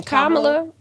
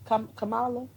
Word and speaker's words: Kamala: you know um so how you say her name kamla Kamala I think it's Kamala right kamla so kamla they you